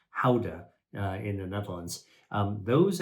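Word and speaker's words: Gouda: like a Swiss cheese ybur cheese GDA cheese guda is actually pronounced Howa in the Netherlands um those actually contain vitamin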